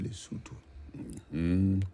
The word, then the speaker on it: Lesotho: It's written Lesotho, but pronounced Lesotho.